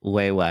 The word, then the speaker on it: Wei: And it's wee wee or way way. It's WI. WI? Yeah, that's how it's pronounced. Like way way.